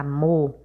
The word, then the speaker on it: amor: Quando você fala a palavra amor, principalmente quando você vai chamar, né? Amor, a sílaba que você mais demora falando é o mo. E esse mo é a última sílaba da palavra.